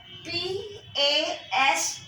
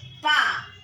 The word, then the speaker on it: pas: We will put a N-E, N, and P-A-S, pa.